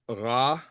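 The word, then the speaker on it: רע: Yeah, the common word is ra, which is typically Interesting. transliterated as RA backwards apostrophe. So Ah, the yeah, the R in Hebrew is more like that French sort of at least in okay, modern pronunciation.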